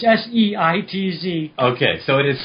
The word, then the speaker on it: Seitz: It's S-E-I-T-Z. Okay, so it is Seitz. Seitz. Okay, I was pronouncing it correctly.